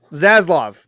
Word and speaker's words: Zaslav: Zaslav, like Pavlov, but Zaslav.